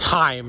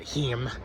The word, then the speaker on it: Haim: It's Haim, not Heem.